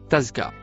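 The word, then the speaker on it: تزكى: Le mot écrit en rouge se prononce tazka.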